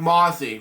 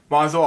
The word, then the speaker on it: Mosul: Anyway, Weymouth interview Mossad Bouazi, President was the mission of Iraq, about the Battle of Mossad. Wow. Mosul, I pronounced it.